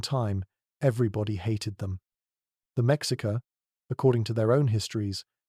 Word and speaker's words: Mexica: They called themselves the Mexica, pronounced me, S-H-E-E-K, and they were absolutely not the original inhabitants of the Valley of Mexico.